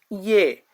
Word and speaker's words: ye: And it is pronounced as Yay. One more. Yay. Yay. Just like when we say hey bro are you coming to the market? Yeah. So uh the sound it sounds like yay.